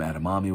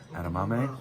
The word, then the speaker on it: edamame: the spot had some adamammi with it adam adame adam how do you say it edamame edamame that's something adamamame with